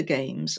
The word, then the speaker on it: Gamse: so my name is games and we say games we spell it g m right don't ask it's it's